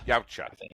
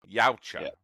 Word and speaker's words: Yautja: Is that how you pronounce it? Yautja. Yautja.